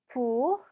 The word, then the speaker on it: pour: pour. 자, 얘는 빼로 시작을 하기 때문에 입술을 붙였다가 떼면서 pour 이렇게 내시면 됩니다. 오이 붙으면 바로 우 발음이 난다고 했었어요. 그래서 pour 이렇게 발음하시면 되겠습니다.